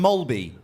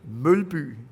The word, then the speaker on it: Mølby: Pronounce that for me, because I always said Jan Mølby. Mølby. Okay, wait a minute. Let me try this. Mølby.